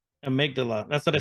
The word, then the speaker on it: amygdala: How do you pronounce that? The amygdala. Amygdala.